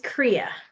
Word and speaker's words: Kriya: you for being here okay I'm sure I butchered your name how do you say it so my first name is Korea Korea yes okay okay I have to say